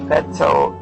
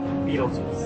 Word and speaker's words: Betelgeuse: That's how you pronounce that. Note for those who don't have the word in front of you. It's Betelgeuse. Yes. Beetlejuice.